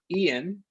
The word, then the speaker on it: Ian: Ian, pronounced Ian, I-A-N.